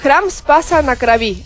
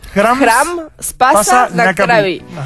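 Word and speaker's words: Храм Спаса на Крови: Claro, se escribe de una forma, se pronuncia muy diferente, sí, digamos. Sí, a veces las A suenan como las O.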